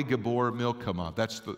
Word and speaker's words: Gibbor Milchamah: So the way that you pronounce this in Hebrew is mighty in battle is Yahweh Gibbor Milchamah. That's the actual Hebrew pronunciation of this word.